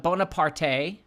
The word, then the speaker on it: Bonaparte: bloodbath ritual bori next is the house of Bonaparte bonapart Bonaparte b o n a p a